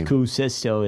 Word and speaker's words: Kuusisto: It's Kuusisto is like Finnish. Oh, really? Is it? Yeah, it's a Finnish last name.